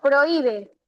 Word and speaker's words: prohíbe: Por ejemplo, en prohíbe, ¿dónde lleva la mayor fuerza de voz? La I.